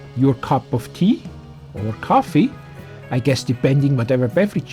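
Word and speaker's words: Ko-fi: Now, as I was just mentioning coffee, we are not just drinking coffee, but we are also on coffee. Well, let me explain. It is spelled K O FI and then you can search for cast like our channel name.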